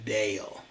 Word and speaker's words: Dale: nome é dale eu sei que parece ser D mas em inglês se pronuncia deo eu nasci e fui